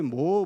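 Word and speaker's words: Moore: 그의 모친인 무어 부인, 미국식 영국식으로 하면 무어 부인이고요, 미국식으로 하면 거의 모어 부인으로 이렇게 발음하는데, 어쨌든 미세스 모어와 또 딸 모린을 옥스퍼드시 근처에서 이제 킬런스라고 하는 데서 돌보게 됩니다.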